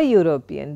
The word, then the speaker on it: European: So, a European, because although European starts with a vowel E, the pronunciation is, the sound is U, therefore, it is a consonant sound.